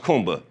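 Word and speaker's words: Kuumba: Day six is creativity which is pronounced kumba.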